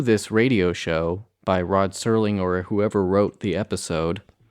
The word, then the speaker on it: Serling: Yeah, well, I'm sure Rod Serling, is it pronounced Serling or Sterling? Serling, yeah. No T in there. Yeah, that's right, no T.